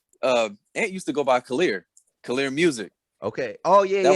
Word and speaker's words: Khalil: Yeah, C stands for, Ant used to go by Khalil Music. Okay. Oh yeah, that was his name. Yes. Yeah. I didn't even know how to say it. I thought it was like Collier.